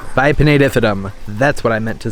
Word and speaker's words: Bipinnatifidum: Let's see how they pronounce it. Philodendron Bipinnatifidum. Bipinnatifidum.